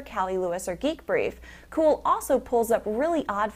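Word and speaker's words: Cuil: turning early adopter off cool spelled cui l and unfortunately pronounced cool launched Sunday night having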